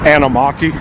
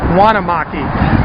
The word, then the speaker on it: Anamaki: Oh, Anamaki. Anamaki, I'll never get that right. And I keep wanting to put a W in front of it and call it Wanamaki.